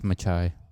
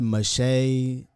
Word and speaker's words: Machai: close to Malachi because like even in Malachi the H is silent. It's Machai. Machai. Bro, my stuff. That's how it's spelled. Machai. I done been Machai, Mache, Shay. Mashi, Maisha.